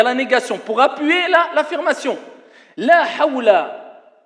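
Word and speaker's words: لا حول: La hawla, ce n'est pas la hawla. Alors ici je rectifie un peu. Certains quand ils prononcent ils disent la hawla wa la quwwata illa billah. La hawla.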